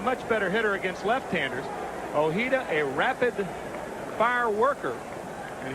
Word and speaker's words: Ojeda: He's Spanish, and the literal pronunciation would be Ojeda. But for the general public, I think, and including the New York Mets faithful, it's been Ojeda all the years since he's been there.